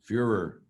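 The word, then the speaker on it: Führer: he was a pure Fuhrer you are as the German pronunciation meaning simply the leader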